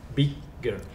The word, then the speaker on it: bigger: Bigger. That Bigger. automatically tells us that one syllable is stressed and one is not. Which one is stressed? I believe this is bigger. Yeah, it's the first syllable.